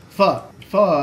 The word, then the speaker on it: pho: Pho. You need to pronounce it correctly. It's pho. Like with a question mark. That's why it has that weird inflection mark.